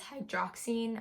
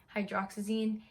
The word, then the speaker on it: hydroxyzine: He doesn't get them anymore, but he has hydroxine. I'm definitely pronouncing that wrong. Hydroxyzine.